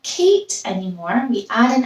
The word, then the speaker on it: Kate: It has a silent E in it. We hear the A saying its name, Kate.